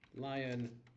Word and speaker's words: Lion: Sir Frank Lion Nuki. There you go. But it's spelled like Leon, like friend. Oh no, it's actually like lion. The It's animal. literally Shit. spelled like lion.